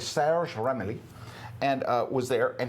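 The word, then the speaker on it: Serge Ramelli: We call him Serge Romeli here in the United States, but he's Sarah Ramli.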